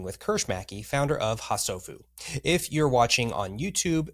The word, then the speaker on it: HaSofu: HaSofu.